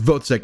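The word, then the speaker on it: Wozzeck: Editor me here, it's pronounced Vozek, and for some reason I didn't do the due diligence of figuring out that that's actually how it's pronounced.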